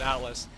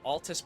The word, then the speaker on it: Altus: I was just mispronouncing it. I literally thought I said Atlas. You are right though. You are 100% correct. They did make Persona. So, Altus Plateau.